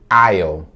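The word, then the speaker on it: aisle: of a letra s não vamos vai ser pronunciada e nem essa letra l aí ficando então aion aion palavra número 4 outra palavra é a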